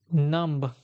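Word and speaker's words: numb: और डी जी ई silent B मतलब इसमें बी साइलेंट होता है साइलेंट स्पेलिंग पैटर्न्स होता है ओके चलो देखो नंब डंब क्रमब डेप्ट प्लंबर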